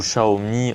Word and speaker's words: Xiaomi: c'est le raccourci de Xiaomi ou Xiaomi en en chinois la prononciation là on a l'ut-parleur